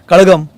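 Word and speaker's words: கழகம்: तुम्ही ल म्हणून वाचावा कळगम स्पेलिंग के एझेड ए जी एम कजगम तिथ लोक वाचतात करतात ना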